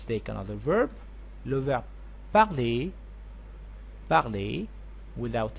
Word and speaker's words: parle: with il and elle, and these three endings are like silent. We don't pronounce them clear in a clear way.